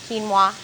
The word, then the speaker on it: quinoa: it q i n o a and it's pronounced kinoa and it's I there's red quinoa and there's white quinoa we just have some